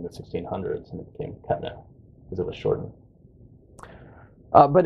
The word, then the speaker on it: Cuttino: How do you say it? Cuttino, but that's a South Carolina accent because the French name is Cuttino, and we immigrated over